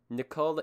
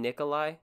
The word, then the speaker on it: Nikolai: my request of nicolai nicole you mean nikolai nikolai that's how i will be pronouncing it thank you very much